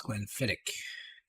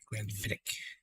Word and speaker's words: Glenfiddich: This is Glenfiddich. Because the Scotch pronounces CH with a heavy K sound. Glenfiddich.